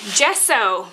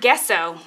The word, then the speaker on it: gesso: bit different oh okay gesso not guess so i have only read